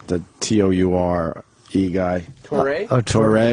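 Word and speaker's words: Touré: Toure, because they had that thing over the E. That's why you go Toure.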